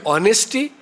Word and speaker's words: honesty: psychology p is silent honesty H is silent it will not be honesty it will not be psychology it will be honesty and psychology but if today